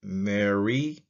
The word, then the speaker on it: mr: It's a biliteral MR pronounced Mary.